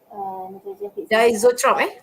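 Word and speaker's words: diazotroph: Ni spelling dia, ni pronunciation diisotrope.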